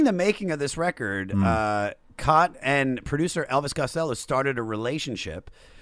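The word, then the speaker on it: Cait: Cot.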